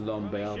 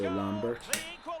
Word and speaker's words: Lambert: I pronounce it Lambert because he's French, and I'm pretty sure they don't say Lambert in France.